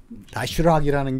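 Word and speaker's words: Доширак: 예, 현지 발음으로 다슈락이라는 게 슈락.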